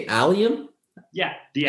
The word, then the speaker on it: Allium: Allium? Yeah, the Allium.